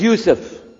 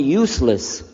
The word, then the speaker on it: Yusuf: work on it inshallah my name is Yusuf did you say Yusuf you said you sir you're very good I wish you'd teach my wife she keeps mispronouncing it she calls me useless now how many of